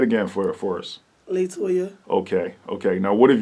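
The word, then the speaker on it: La'Toya: don't forget toyah so what is the correct pronunciation of your name latoya latoya little okay how how do you spell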